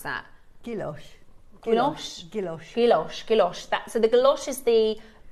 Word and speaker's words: gouache: Do you know how to pronounce that? Gouache.